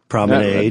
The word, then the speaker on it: Promenade: Promenade, like lemonade.